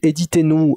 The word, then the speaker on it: Édith & Nous: c'est très simple donc éditer nous ça s'écrit est dit comme comme le prénom est dit et nous donc que t n o s pourquoi ce nom parce